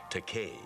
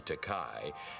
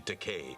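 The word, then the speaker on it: Takei: but you're most definitely teay rhymes with okay doesn't it okay you're teay and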